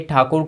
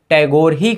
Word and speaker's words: ठाकुर: ठाकुर कहलाए जान लगा लेकिन जो अंग्रेज थे वह इनके सरनेम का सही से उच्चारण नहीं कर पाते थे इसीलिए वह गलत उच्चारण करते थे ठाकुर को टैगोर से टैगोर ही पड़ा रविंद्र नाथ टैगोर के